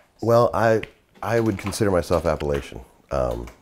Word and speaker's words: Appalachian: Well, I would consider myself Appalachian. And I know that there's two different pronunciations of that term, but I grew up saying Appalachian.